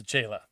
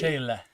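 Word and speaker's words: Sechele: Che, like change, Che. and then le, like let. So the end has to be like lazy. Sechela.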